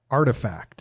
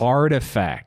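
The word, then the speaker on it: RTFKT: i can't pronounce it what is it rtf kt artifact artifact that's not how you spell artifact i know but it's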